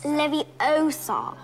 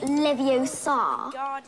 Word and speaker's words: Leviosa: i can totally relate you're saying it wrong it's leviosa not leviosa you do it then